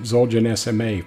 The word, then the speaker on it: ZOLGENSMA: Now, I've been pronouncing it ZOLGENSMA for a long time, but I did receive